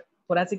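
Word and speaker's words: thoracic: थोरैसिक कितने हैं? वहाँ थोरैसिस लिखा है, वो थोरैसिस नहीं है, थोरैसिक होता है, थोरैसिक गलत स्पेलिंग है, ठीक है, थोरैसिक होता है।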